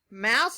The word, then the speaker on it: mouse: can we right mouse mouse is tricky because it has a silent letter on the end let's right mouse down